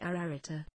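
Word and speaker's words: Ararita: a triple and double repetition this word is pronounced ararata the virtue of the septenry is absolute in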